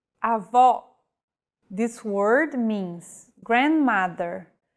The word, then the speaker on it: avó: Avó. This word means grandmother. If said with a closed vowel, it would mean grandfather, and with no accent at all, avo.